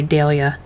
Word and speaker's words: Dahlia: I would pronounce it Dahlia, but I guess the English would say Dahlia.